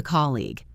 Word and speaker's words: colleague: Keep the stress on that first syllable every time.